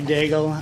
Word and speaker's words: Daigle: I'd like to welcome uh dagel is that how you pronounce it to the come on up welcome thank you very much for the invite um my name is dagel I am fortunate enough